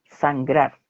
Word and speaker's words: Sangrar: Y él dice, y le corrige, dice, la hacienda de mi padre es sangrar, con acento en la A, así como habla que es palabra llana, pero si quisiéramos español, escribirlo en español, porque es una palabra indígena, Es sería con Sangrar, acento en la A, sangrar, y con Sangrar, R al mira, final.